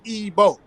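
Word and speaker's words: Igbo: of Europe so they don't know how to pronounce EO you see what I'm saying it's simple as as ebo right right now and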